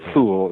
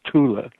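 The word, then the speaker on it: Thule: known as the Tula gazelle shop it's usually mispronounced right fool it's it's not fool in German is Tula but uh the Tula gazelle chapter the Tula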